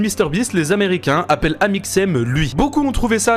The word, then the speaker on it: Amixem: CIN fois pour me demander attends ça se prononce comment amixem et je disais amixem amixem amixem il était crevé il était au